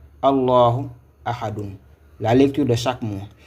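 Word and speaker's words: أَحَدٌ: Ici, nous avons A. Là, c'est Ha. Là, c'est Dun. Et la lecture, c'est Ahadun.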